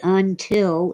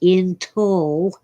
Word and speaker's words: until: By the way, until is not pronounced intol unless you're on the news or a talk show and nobody dares to correct you.